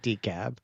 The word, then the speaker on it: DeKalb: And DeKalb. All right. So that's how we were saying it, DeKalb.